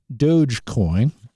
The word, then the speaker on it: Dogecoin: uh uh d-o-g-e-c-o-i-m the crypto currency is uh Dogecoin Billy eilish that's how you pronounce that another crypto one is ethereum people